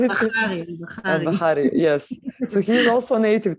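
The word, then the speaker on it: Albahari: I found it interesting you spell it. Al-Bahari, yes.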